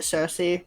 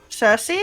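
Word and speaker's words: Circe: Cersei? Yeah. Cersei spelled like that. C-I-R-C-E, if I recall.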